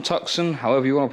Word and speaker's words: Tucson: of other bits we've now got a hyai Tucson tuxen however you want to pronounce it think it's pronounced Tucson uh we